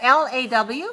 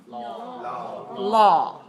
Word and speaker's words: law: say all all draw draw okay so at l-a-w how do you spell that I mean how do you pronounce that law law law follow the law law right so